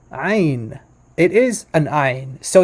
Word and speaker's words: Ayin: In modern Hebrew, it's just pronounced like Ain. Ain. It's not. It's no guttural. It's not guttural at all.